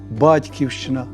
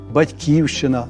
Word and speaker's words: Батьківщина: таких теплих слів як Батьківщина Батьківщина можливо і такий і такий наголос а ще материзна дідизна